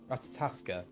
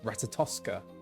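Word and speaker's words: Ratatoskr: Ratataska. No, Tosca. Oh. It's Tosca, isn't it? Ratatoska. As in the opera, that's right.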